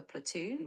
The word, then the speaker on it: platoon: Platon. How do you spell platoon? Platoon is spelled P L A T O O N. Great job working through all these terms. P L A T O O N. That's right. Platoon is spelled exactly like that.